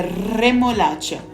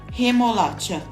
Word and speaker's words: remolacha: Por isso, certo, é remolacha, vibrando R, e não remolacha, sem vibrar como no português.